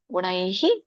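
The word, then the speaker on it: ಗುಣೈಃ: ಋಷಿ ಋ ಪ್ರಕೃತಿಂ ಚ ಗುಣೈಹಿ ಸಹ ಇಲ್ಲಿ ಗುಣೈ ಐ ಚಿಹ್ನೆ ಇದೆಯಲ್ಲ ಹಾಗಾಗಿ ನಮಗೆ ವಿಸರ್ಗ ಕೂಡ ಐ ಅನ್ನುವಂತ ಉಚ್ಚಾರಣೆ ಬರುತ್ತೆ ಗುಣೈಹಿ ಸೊ ಕೊನೆಗೆ ಹಿ ಅಂತ ಉಚ್ಚಾರಣೆ ಮಾಡಬೇಕು ಐ ಸ್ವರ ಕೂಡಿದಾಗ ಗುಣೈಹಿ ಸಹ ಸರ್ವತಾ ವರ್ತಮಾನೋಪಿ ನಸ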